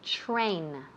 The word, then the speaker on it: train: Pronunciation, to train. To train. La TR. I've said this before. I'm going to say it again. TR sounds like ch. Ch. Train. Train. So please don't say train.